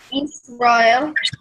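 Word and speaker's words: ישראל: So that's a sin, not a shin, because the dot's on the left. Okay. And then the vowel under it is the silent vowel, so you don't pronounce the vowel part. So try it again.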